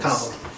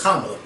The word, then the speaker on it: Kamala: Kamala. Because she taught us how to say it on the video. Yes. Kamala.